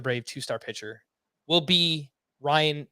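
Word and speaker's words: Ryne: So my Fortune favors the Brave 2-star pitcher will be Ryan Nelson, which is actually spelled R-Y-N-E if you're trying to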